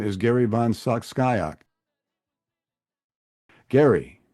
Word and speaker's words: Van Scyoc: Van Scyoc. You see, I made the mistake of going to Warren to ask for pronunciation. It's better than my second grade teacher's pronunciation, Slycock. Oh, well, you know, it could have been Cyclops. That would have been terrible.